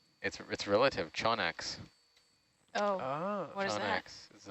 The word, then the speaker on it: Chaunax: Just wait till you see its relative, Chonax. Oh, Ah. what is that? Chonax is a shallower water. Okay. Well, now I gotta look that up. Anglerfish. Chonax, yeah. I'm imagining like a Pokemon evolution. Yeah. Chonax is one of my favorites, but typically you